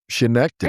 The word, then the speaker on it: Schenectady: Schenectady.